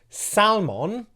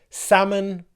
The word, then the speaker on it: salmon: day you will know not to pronounce Salman or almonds or almonds but salmon and almonds okay those are just